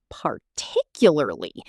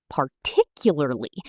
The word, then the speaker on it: particularly: Particularly. The stress is on tick. Particularly. Say it slowly first, then speed up.